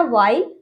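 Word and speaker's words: while: रहेगा, डब्ल्यू के बाद एच है तो ये साइलेंट रहेगा, ये वाला एच हम पढ़ेंगे, ओके। नेक्स्ट हमारा वाइल, वाइल, ठीक है।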